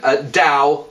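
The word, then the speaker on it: Dão: dong now D um pronunciation Dao D think of Dao rhymes with how think of dung as in the stuff that you know comes out of um whatever um and D halfway in between and the the wine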